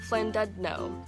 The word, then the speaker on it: Llandudno: After the castle we went to a town which is spelled like this but pronounced Llandudno.